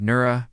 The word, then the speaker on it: Noora: The four frequencies pronunciation guide Noora pronounced n o o r a. Let the no rise from the chest full and open. Raw trails gently like light spreading outward.